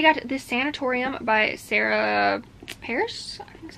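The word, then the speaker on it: Pearse: it is a figure skating romance so can't wait for that and then I got this sanatorium by Sarah Paris that's how you say it this is another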